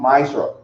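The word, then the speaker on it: ma'aser: Means tenth in the Hebrew and it's pronounced ma'ashra.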